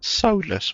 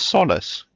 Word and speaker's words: solace: Solless. Why does he say it like that? Solless. It's solace.